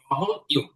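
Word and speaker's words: W: উই উই এরপরে হচ্ছে আমরা করেছি ডবলিউ এটা ডবলিউ না এটা হচ্ছে ডবল ইউ ডবল ইউ যদিও দেখতে ডাবল ভিউ এর মতন মানে ভির মতন কিন্তু এটা ডাবল ইউ ডবল ইউ হবে এরপর হচ্ছে বা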